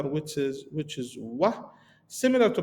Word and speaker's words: و: So we have this following letter, which is wah, similar to pronunciation to O, but with little low pitch of sounds.